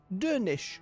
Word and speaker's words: Dernisk: Dernisk is pronounced Dernish, since the final SC cluster sounds like a sh sound.